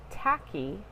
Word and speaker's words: tachy: on the other hand the prefix tacky which is spelled ta CH Y which means rapid or